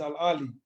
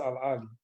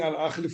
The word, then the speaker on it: Al Ahly: coach of Egyptian giants Al Ahly. By the way, guys, it's pronounced Al Ahly. We've all been saying Al Ahly for many years, South Africans, it's Al Ahly.